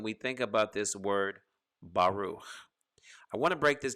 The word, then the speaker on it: baruch: it just comes to a closing sound of baruch bahru not baruch with a k baruch with the kh or ch sound in this case we've